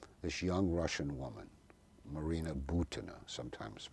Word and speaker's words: Butina: Incidentally, as we talk, this young Russian woman, Marina Butina, sometimes pronounced here Butina, but it's Butina, B-U-T-I-N-A, has been sitting in an American prison